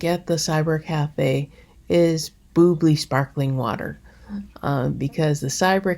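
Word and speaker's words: bubly: about how it's pronounced b-u-b-l-y is boobly not bubbly english folks i know it's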